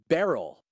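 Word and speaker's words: Beryl: thing in the way Barrel is that like Cheryl but with a B you know I actually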